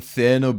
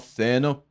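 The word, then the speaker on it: Thierno: Also, I've heard a lot of people call him Tierno Barry. It's Tierno. I think it is Tierno. The way his name is spelled, it's Tierno, not Therno.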